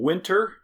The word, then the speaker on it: Whynter: Some top-rated portable air conditioners come from Winter. It's WHYNTER. Fancy.